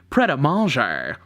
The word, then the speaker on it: Pret A Manger: A Manger for lunch which from my understanding is actually pronounced Preta mal gyre we're staying at the